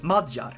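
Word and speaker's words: Magyar: you pronounce this well my brain wants to say it mogir but I'm pretty sure dungarians say madjar so I'm gonna say majjar and if I'm wrong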